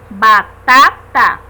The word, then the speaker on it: batata: Exemplos: batata. Percebemos através da pronúncia que a sílaba mais forte da palavra batata é a segunda, né?